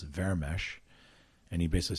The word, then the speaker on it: Vermes: in Hungarian, he said, my last name in Hungarian is pronounced Vermes. And he basically said, Vermes, do you speak Hungarian?